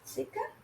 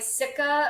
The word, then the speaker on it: Sika: Sika?